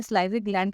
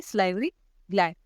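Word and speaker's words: salivary gland: अब last video में मैंने सलाइवरी ग्लैंड की प्रोनाउंसिएशन गलत कर दी थी, इसे हम प्रोनाउंस करते हैं सलाइवरी ग्लैंड।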